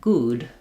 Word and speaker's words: good: And so you might be applying that rule here and saying something more like good or book.